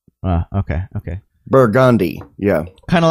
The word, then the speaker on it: Burgundy: then r no the the thing about New Orleans is French words are pronounced with redneck accents the way a redneck